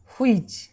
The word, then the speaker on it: which: আমরা উচ্চারণটা করি এভাবে, হুইচ। আমরা করি হর্ষই চ, হুইচ, কিন্তু না, ডাব্লিউর জন্য হবে হর্ষৌকার, এইচের পরে ও নেই, তাই এইচের কোনো সাউন্ড আমরা গ্রহণ করব না, এটা সাইলেন্ট লেটার।